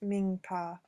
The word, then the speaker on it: Dmingpa: He explained it as a Dmingpa, pronounced Mingpa, a mental image which can be built up only by a fully instructed Lama through the power of imagination.